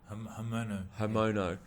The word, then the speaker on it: Haumono: Solomon Haumono is actually, can you give me the proper pronunciation of your last name? Haumono? Haumono.